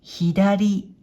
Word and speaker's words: 左: 音読みでさ、さ、訓読みで左、左と読みます。